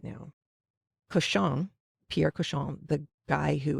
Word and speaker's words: cochon: going to give you some spellings right now koshong pierre keshon the guy who is spearheading the